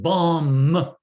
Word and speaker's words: bomb: Who could help him? It's the B. It's the B. Very good. The first one or the second one? The last one. Excellent. The last one. We don't pronounce it. Bomb. Okay.